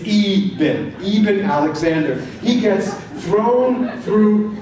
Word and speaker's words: Eben: of different people telling me different ways to pronounce his name. Stop telling me. It's Eben. I had it right the first Sunday. It's Eben Alexander.